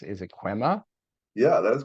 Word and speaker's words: Kwema: that I'm not sure if I'm going to pronounce it correctly but it's is it quema yeah that is correct all right perfect and